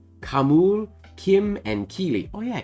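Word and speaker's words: Khamûl: Kamul, Kim, and Keely.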